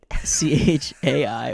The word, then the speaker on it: chai: Twitter at the underscore hi CH AI or chai as it's pronounced underscore life my favorite